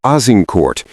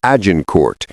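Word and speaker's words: Azincourt: On October 24th, 1415, near the village of Azincort, which the English would pronounce as Ajin Court, the English army finally came to face to face with the French host.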